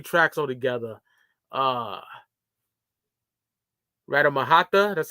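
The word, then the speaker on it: Ratamahatta: Radamahata, that's how you say it.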